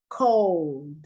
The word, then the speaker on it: cold: it's old excuse me cold you don't really pronounce the l it's a long o sound goldwater he was the